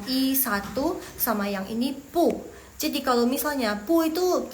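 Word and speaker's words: 不: ya By the way Jadi kalau misalnya belakangnya pu itu dia nada keempat jadi yang pu itu yang pu itu dia berubah jadi nada kedua jadi bacanya pu nada kedua ya guys belakangnya jangan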